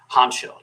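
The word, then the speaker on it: Hancko: clearly the the play they're telling me it's pronounced honcho David honcho I always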